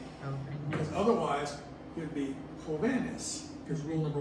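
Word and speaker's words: jóvenes: If I make it plural, I have to add es. Hoveness. Holiness. Jovenes. Hoven. Because the stress is here, next to last syllable, rule number 1. I want to keep the stress here, so I have to put an accent mark.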